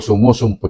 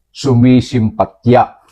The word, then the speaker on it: sumisimpatya: ay sumasampa siya o sumusumpa siya sumusumpa siya i pa ni Labrador ang tamang bigkas ay sumisimpatya yan ang tamang bigkas ha sumisimpatya o simpatya yan diyan galing ang salitang yan hindi sumusumpa sumasampa kung anoanong sinasabi mo